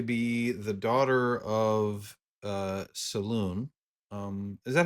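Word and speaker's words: Selûne: many to be be the daughter of uh Salon um is that how everybody else would pronounce it Saloon salun yeah I've always done salun okay we'll use salun god of the Moon um theu the Unicorn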